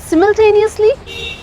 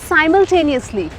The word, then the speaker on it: simultaneously: It happened सिमल्टेनियसली, साइमल्टेनियसली। और अगर मैं आपसे बोलूं कि दोनों सही है तो सिमल्टेनियसली इज British pronunciation and simultaneously is American pronunciation.